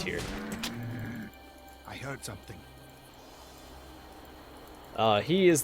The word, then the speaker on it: Tyr: My favorite story about Tyr, which I've also heard pronounced Tyr before, but I don't think that's right. I think it's Tyr.